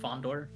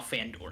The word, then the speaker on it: Fandor: How did wasn't it Fondor? Wasn't it pronounced Fondor? Or is it Fandor? It's A-N, Stan, Fandor.